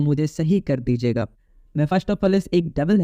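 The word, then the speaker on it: Mephistophilis: और एक है मेफा, जिसको मैं मेफा बोलता हूँ, लेकिन ये मेफा नहीं है, इसका नाम है मेफास्टोफिलस। ये स्पेलिंग है, मैं यहाँ पे लिख देता हूँ।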